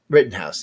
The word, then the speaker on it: Rittenhouse: how you say his name um Written House Written House there you go thank you and you know as many times I heard you think I remember that so now I've been writing listening or seeing written house all over the place for the last two